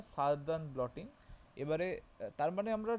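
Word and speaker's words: Southern: প্রোনাউন্সেনটা সারদান bloating.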